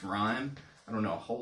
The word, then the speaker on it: Raimu: It's actually spelled R-A-I-M-U. You might think that's Raimu, but it's actually pronounced Rhyme.